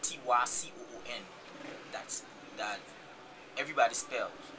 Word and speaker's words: Takun: So meaning that tycoon is spelled T-A-K-U-N.